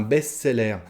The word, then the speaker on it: best-seller: succès on parle d'un best-seller à la française encore on le prononce à la française un best-seller c'est un livre qui